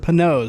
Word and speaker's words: Panoz: The family does pronounce it Panoz, so hopefully that's the right way to say it.